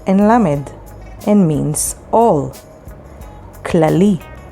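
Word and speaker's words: כללי: spelled with haf and lamid and means all clali spelled with haf lamid lamet yod and means general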